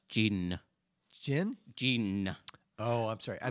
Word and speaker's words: D'jin: only it's just pronounced gene gene oh i'm sorry i thought it was i could use a gene no the d is not it you don't pronounce it all the way it's sort of this